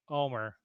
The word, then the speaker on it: Omer: He says here rhymes with the Omer less the Oh, H. Yes, thank you, Omer.